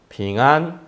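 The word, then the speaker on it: 平安: 회중들은 이렇게 화답을 합니다 핑안 쉽지요네 평이랑 발음이 비슷하죠 예 평안이 중국말로 평안은 아니고 안는 똑같아요 근데 평이 이제 중국 발음으로는 핑이에요 핑 빙한 이렇게 화답하면서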